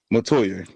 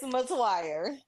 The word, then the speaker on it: Metoyer: Did I say your last name right? Absolutely not. Absolutely not. But all my life I had to fight. It's fine. It's how do you say it? It's MWire.